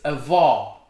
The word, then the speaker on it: avó: it's pronuncia he pronounces grandfather is vo but grandmother is a vaw i can't hear the